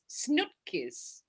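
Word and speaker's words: snoepkes: candy and flemish is snookis yes like snoop dogg giving you a kiss your wishes yeah it's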